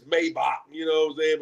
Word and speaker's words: Maybach: The same way people be like Mayback when it's Maybach.